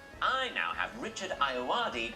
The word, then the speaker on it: Ayoade: Richard Ayoade?